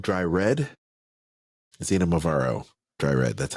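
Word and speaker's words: Xinomavro: They also have the Kiriani Naususa Zinmarvaro Dry Red. Zinamavaro Dry Red, that's how you say it.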